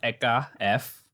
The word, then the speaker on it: ehka f: but how do you actually pronounce that so pronounced eeka f um eeka is basically me and my partner's